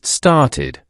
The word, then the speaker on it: started: And one last one, start. It ends with t, so the past tense is started, pronounced started. Repeat after me, started.